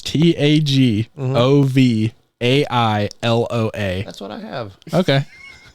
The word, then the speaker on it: Tagovailoa: Spell it. Quit looking. Read it, Ken. Tagvai. What? That's exactly how you have it. You got the first 3 letters right, King. What are you talking about? It's Tagovailoa.